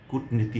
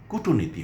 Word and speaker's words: কূটনীতি: আমরা তখন খানিকটা দ্বিধায় পড়ে যাই যে উচ্চারণ কি কূটনীতি হবে না কূটনীতি হবে? আমরা কখনোই কূটনীতি বলবো না। আমরা উচ্চারণ করবো কূটনীতি।